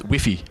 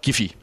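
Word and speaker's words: Guifi: of this is uh if you pronounce this in spanish it says wiffy not giphy so wifi net refinet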